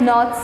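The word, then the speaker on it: know: n o w no k is the silent letter because we don't pronounce the sound of k k is silent k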